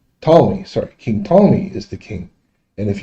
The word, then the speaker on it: Ptolemy: it's all about king solomon is the king tommy ptolemy sorry king ptolemy is the king and if you have any